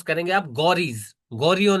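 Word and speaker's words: Ghorids: इसको प्रोनाउंस करेंगे आप गौरीज।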